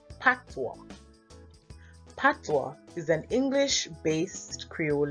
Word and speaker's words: Patois: at the dialect used in Jamaica which is pronounced Patwa Patois is an english-based Creole language with West